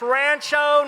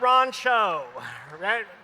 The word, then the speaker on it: Rancho: of 1988 Darren Thomas it's pronounced Rancho not Ron show how many of you